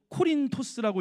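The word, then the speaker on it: Κόρινθος: 여러분, 오늘 본문의 배경이 되는 이 고린도는요, 헬라어로 코린토스라고 읽으며 뜻은요, 뿌리라는 뜻을 담겨져 있습니다.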